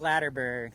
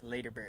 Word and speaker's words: Laderberg: Laderberg. Also known as. Yeah, not Laderberg, Laderberg. Laderberg.